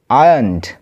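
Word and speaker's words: ironed: আছে ক্লিনড পরিষ্কার করতো আয়ানড আচ্ছা এর উচ্চারণটা হবে আয়ান ঠিক আছে আর টা সাইলেন্ট থাকে আয়ানড আয়ানড মানে আয়রন করতো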